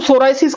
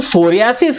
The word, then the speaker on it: psoriasis: जो सोरियासिस है, जो इसका pronunciation as ए सोरियासिस, that is the medical pronunciation. और एक आम आदमी इस बीमारी को क्या बोल के बताता है? वो उसको सोराइसिस बोलता है। एक आम आदमी की, आम लोगों की बोलचाल की भाषा में इस बीमारी को सोरियासिस प्रोनाउंस नहीं किया जाता, इस बीमारी को सोराइसिस प्रोनाउंस किया जाता है।